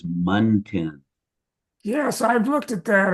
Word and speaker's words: muntin: I'm a retired architect, and the way that you pronounce that word is Muntin.